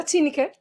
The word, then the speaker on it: Tineke: Did I pronounce that right, Tineke? Yeah, Tineke.